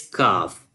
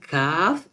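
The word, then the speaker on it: كاف: But kaf, you can say it very softly in the low voice to differentiate between kaf and kaf.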